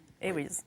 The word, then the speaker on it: Eyries: aux éditions L'Harmattan d'Alexandre Eyries. Oui, vous le prononcez à l'anglaise. Eyries, ok. Eyries. Oui, donc c'est un ouvrage assez savant, assez universitaire dans le style.